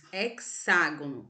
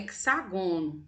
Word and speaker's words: hexágono: Pentágono seis lados hexágono atenção para o acento agudo tá a sílaba que está acentuada é a sílaba que você você vai ler com uma tonalidade de voz mais fortes pelo amor de Jesus não vamos falar é que sagone tá 7 lados é tagono